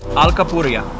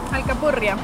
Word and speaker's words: alcapurria: Alcapurria. Alcapurria. Alcapurria. Yeah, I got that rolling R thing. Still a struggle for me.